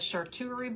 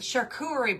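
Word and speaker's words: charcuterie: I said shuerie board. It's a shakurerie board.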